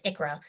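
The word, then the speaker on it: ICHRA: reimbursement Arrangements acronym but ikra is how you say it some people say okra and I'm like no it's ikra okra is a is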